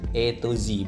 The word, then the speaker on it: Atoz: Yuk kita lihat mobilnya Hyundai E2Z. Bacanya gitu ya, bukan Hyundai Atos tapi Hyundai E2Z. Maksudnya dari A sampai Z semua ada.